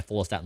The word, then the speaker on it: follistatin: And is that follistatin?